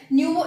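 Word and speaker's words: pneumo: न्यूमो virus ठीक है न्यूमो इसी इसी को है ये साइलेंट है इसमें पी तो न्यूमो वायरस है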